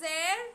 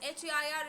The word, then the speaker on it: heir: So it is pronounced HEIR, it is pronounced as heir, just as you pronounce AIR, so it is pronounced as the same way, heir.